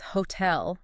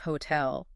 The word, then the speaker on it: hotel: I work with a French colleague and she often says hotel instead of hotel. Phonetically, the sounds are fine, but the stress just lands differently.